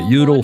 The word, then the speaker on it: Judel: got to tell Peter it's Judel Froelich. A V in German is pronounced like an F, and the J is pronounced like a Y. Judel Froelich, the designer.